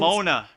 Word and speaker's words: mauna: I Muni think means Mona. Mona. Mean it's spelled Mauna.